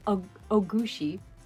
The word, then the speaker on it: Ogushi: the being known as ogushi ogushi that's how you say it haunts and tortures humans